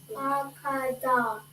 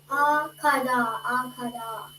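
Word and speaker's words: אחד: Okay, but so now this syllable, we're not pronouncing the last syllable of the da. Kada. Close. Akada. So don't say da. Okay, you're gonna say kad.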